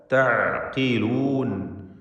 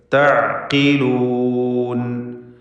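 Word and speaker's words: تَعْقِلُون: അഫലാ തഅഖിലൂൻ, അഫലാ തഅഖിലൂൻ, ഖാഫിന് കസ്റുണ്ട്. ഏറ്റവും കുറഞ്ഞ ലെവലിലുള്ള തഫ്ഖീമാണ് അതിന് കൊടുക്കേണ്ടത്. തഅഖിലൂൻ.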